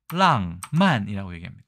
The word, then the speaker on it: 浪漫: 삼국에서는 어떻게 얘기를 할까요 중국 보겠습니다 랑만 우리의 낭만과 비슷하죠 그래서 낭만주의를 낭만주이라고 얘기합니다